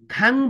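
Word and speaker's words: 강의: खाङ उही भन्न मिलेन किनभने यो उही भन्ने शब्द है शब्दको पछाडि आएको छ है, उही भन्ने अक्षर कहाँ आएको छ, शब्दको पछाडि आएको छ। त्यो कारणले गर्दा यसको उच्चारण अब के हुन्छ, ई हुन्छ भनेर बुझ्नु पर्यो।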